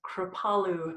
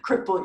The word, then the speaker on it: Kripalu: ta Lu and then most people pronounce it crippled you I am NOT